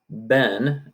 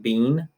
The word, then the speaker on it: been: case you use had been and the English American English pronunciation of this word is been not being had been and then